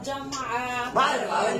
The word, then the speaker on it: جمع: দেখেছি আজকে আমরা জানবো জামা প্রথম জামাউ প্রথমেই আমরা ভুল বলি সবাই বলি জুমা জুমা জুমা জুমা জুমা আসলে সকলেই আমরা ভুল বলি সাধারণত আসল উচ্চারণ হবে কি জামু জামু আর জুমা বললে